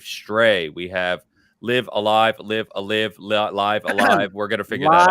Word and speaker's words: Live A Live: we have Live Alive, Live Alive. We're going to figure that out as well. Alive is how the Nintendo Direct pronounces it. I went and looked before this episode. Live Alive.